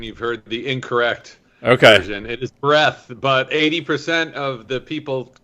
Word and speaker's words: Breath: is it breath or breathe i've heard it pronounced both ways if you've heard the latter version you've heard the incorrect okay it is breath but 80 of the people call it breathe okay uh yeah i loved it i read